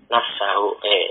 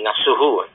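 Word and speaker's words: نفسُه: Nafsahu, ini nafsuhu. Dia adalah taukid. Taukid dari siapa? Taukid dari Zaidun. Zaidunnya dibaca, dikejukan sebagai apa? Sebagai fa'il misalnya. Oh berarti dibaca rofa. Berarti ini bacanya bukan nafsahu tapi nafsuhu.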